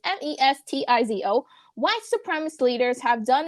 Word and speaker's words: Mestizo: as its Spanish and Mesito, can't even pronounce the word, but it's Mestizo, white supremacist leaders have done in this region throughout history.